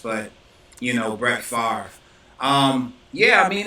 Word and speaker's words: Favre: situation um you know he kept saying favor it is kind of weird because if you look at Bradford's name you would think that that's how it's pronounced but you know Brett Favre um yeah I mean